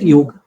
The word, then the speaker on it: yog: out just in case call it yog not yoga okay sir it is